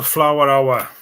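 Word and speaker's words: Fleur Hour: It's spelled fleur, but it's pronounced flower hour.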